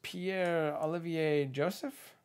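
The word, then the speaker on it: Pierre-Olivier Joseph: It is Pierre Olivier Joseph. Did I do that right? Yeah. It's a very French pronunciation.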